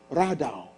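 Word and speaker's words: רדה: This word in the Hebrew language, Genesis 1:26, is the word R-A-D-A-H, radaw. Sometimes it's spelled R-A-W-D-A-W, depending on the Hebrew translator.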